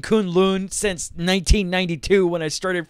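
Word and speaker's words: K'un-Lun: mine Alexandra so also we get more saying Kunlun wrong it's still Kunlun not Conlan Conlan I hate the fact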